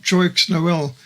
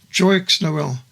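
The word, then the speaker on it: Joyeux Noël: Christmas together and in 2005 the French film Jox Noel dramatized the Christmas trees in 1914 Through The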